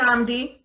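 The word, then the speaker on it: Nnamdi: is in real life his first name is pronounced namdi who know that i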